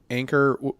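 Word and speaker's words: Anker: familiar with that brand anchor is not like spelled like the boat anchor but a an keer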